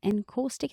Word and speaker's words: encaustic: Encaustic, is that how you say it?